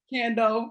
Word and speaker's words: Kandeaux: And sis, how do you pronounce your name? Is it Kandeaux? Kandeaux, yeah. Kandeaux.